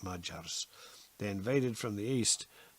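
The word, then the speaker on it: Magyar: century the fierce mergers spelled ma gy AR but they pronounce it ma jars they invaded from the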